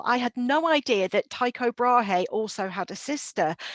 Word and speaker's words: Tycho: in different houses because tycho i think that's correct pronunciation rather than taiko but he basically had